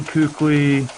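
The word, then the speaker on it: Kuechly: Panthers linebacker who spells his name funny and pronounces it keithley keep catch Lee quickly anything that that starts with AK it's cake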